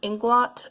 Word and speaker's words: Inglot: I have two more cream blushes to show you from, I think this is pronounced Inglot, but my French brain has had me pronouncing it Inglo for years, so I'm just